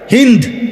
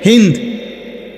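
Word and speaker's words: هند: হিন্দ ওই মহিলার নাম, যাদের বাংলা ভাষায় হিন্দা বলে, মূলত হিন্দ নাম, আকারটা নাই আর কি।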